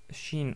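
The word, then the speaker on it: ش: c'est aussi facile car c'est l'équivalent du son ch dans la langue française donc c'est exactement pareil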